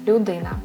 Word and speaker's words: людина: You will have syllable lu, di, na, 3 syllables, людина.